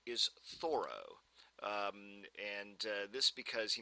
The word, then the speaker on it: Thoreau: traditionally most people say Throw there is some evidence that he pronounced his name thorough uh and there's a